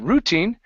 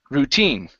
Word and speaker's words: routine: is the word routine the stress is on the end of the word okay instead of routine it's routine routine good I marveled